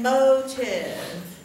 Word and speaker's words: motive: Say, what strange motive, how many syllables are in motive? Two. Mo, your chin drops, tiv, motive, okay? There's a vowel O and a vowel I, and the E is silent, don't worry about it.